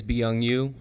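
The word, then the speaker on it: Beyoung Yu: My name is Byung Yu. It's spelled B-E-Y-O-U-N-G-Y-U, and I'm an ESL teacher at Rosa Parks Elementary.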